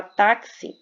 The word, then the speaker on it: táxi: são pronunciadas já falava táxi nós vamos ter quatro letras e 5 fonemas por quê Porque o X Ele tem um som de KS Então nós vamos ter